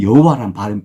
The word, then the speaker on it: 여호와: 발음의 모음을 따와서 같은요 야라는 자음에 다 갖다 붙인 거예요 그래서 여호와라는 발음 발음이 나오게 된 거예요 아 이해가 되시나요 지금